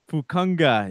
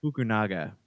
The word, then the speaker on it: Fukunaga: Fukunga, is that how you say it? No, Fukunanda. Now you got me saying Fukunaga. Oh, Fukunaga.